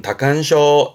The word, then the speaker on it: 多汗症: 발음은 다칸쇼, 다칸쇼 합니다만, 하지만 이 한자는 중요한 건 훈독이세요.